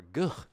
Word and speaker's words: GH: Or Guh, as he's called. Guh. All right. That's how I would pronounce it. I don't expect Americans to pronounce it like that.